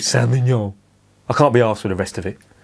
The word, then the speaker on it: Saint-Feuillien: How many letters are there? There's F-E-U-I-L-L-I-E-N. And all that is Saint-Feuillien. It's like they've looked at the word and they've started pronouncing it and gone, oh, do you know what, for fuck's sake, just call it Saint-Feuillien.